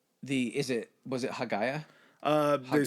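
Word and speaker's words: Hagia: is it was it hagaya uh they said the pronunciation in Greek would be Aya for that word oh a okay ha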